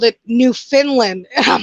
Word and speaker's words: Newfoundland: Okay, everybody always says it like it's spelt like Oh, Newfoundland, but it's called. But here we pronounce it Newfoundland.